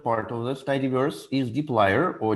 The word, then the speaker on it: dplyr: I think the most correct way to pronounce it is dplyr, because the previous version of this package was called plyr, and it's something like a part of word apply.